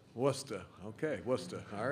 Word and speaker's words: Worcester: Worcester. Worcester.